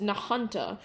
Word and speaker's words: Nahunta: The strongest of which was the Nahunta tornado, which actually I now figured out is pronounced Nahunta.